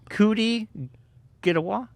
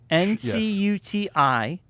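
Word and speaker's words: Ncuti Gatwa: Kuti Gadawa? Kuti Gadawa? Ncuti. Yes. But it's I don't even think you pronounce the N. Kuti Gadawa.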